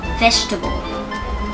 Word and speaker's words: vegetable: ๆ อ่าน ออก ว่า Vegetable Vegetable นะ คะ ไม่ ออก ว่า Vegetable นะ คะ Vegetable Vegetable stress เน้น ที่ คำ ว่า vest ข้าง หน้า นะ คะ Vegetable ผัก นั่น